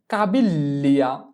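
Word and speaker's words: caviglia: এরপরে পায়ের গোড়ালি, পায়ের গোড়ালিকে বলা হয় কাবিল্লিয়া, কাবিল্লিয়া, তাহলে কি বসবে জি এল ই, কাবিল্লিয়া। তো এই বানানটা আমরা করার চেষ্টা করি, চি আ কা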